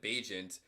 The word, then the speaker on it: Bagent: udfa quarterback Tyson bajent I think it's actually how you say his name I've been saying in vaginant the entire time but I'm pretty sure you pronounce it bajent um coming out of